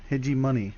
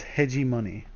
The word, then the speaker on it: heGEmOni: hit hedging hedging moni edgy money sorry can I believe even after ask him how to pronounce it I still messed it up that's very awkward it's hedgie money so I'm not sure